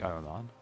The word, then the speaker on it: Ahriman: I could see that because it said Ahriman, or how it's meant to be pronounced, which is like Ahriman.